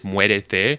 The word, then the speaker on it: muérete: I heard two syllables, not three. Muérete. Muérete is die. Muerte is death.